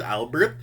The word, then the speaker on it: Albert: okay but it's spelled albert um but it's pronounced albert cause he's french okay um someone's offering